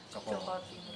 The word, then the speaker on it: Jaka Tingkir: Jaka, tapi kita bacanya Joko Tingkir.